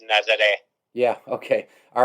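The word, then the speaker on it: Nazaré: So, is the town, is it pronounced Nazare? Nazare. Okay. Like foreigners, Americans call it Nazare, but it's Nazare.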